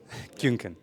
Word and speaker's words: Köhnke: Köhnke. Yeah. I say it right? Köhnke.